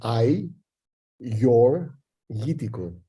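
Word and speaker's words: Agiorgitiko: to pronounce it's called so for the uh the English speakers it's kind of I your itico if you want to break it down but I do realize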